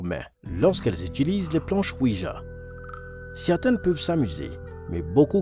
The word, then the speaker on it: Ouija: Tout d'abord, parlons des planches Ouija. Elles s'écrivent O-U-I-J-A et se prononcent Ouija.